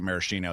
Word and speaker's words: maraschino: What is the relationship here between these and the Luxardo Maraschino that I'm sure if anyone's familiar with any of Luxardo's products is that one. Yeah. I mean, so first is pronounced maraschino.